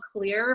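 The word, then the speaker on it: Xlear: It's called Clear, but it's spelled with an X, I guess, so they can be tricky.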